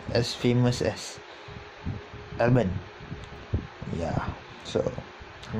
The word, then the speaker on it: Albon: Toro Rosso Rosso, Brandon Hart, Toro Rosso, Albon, and the Torpedo is back. Torpedo is back. So yeah, guess who? Kvyat. By the way, I pronounced the Thai driver's name wrongly. It's not Albon. It's Albon.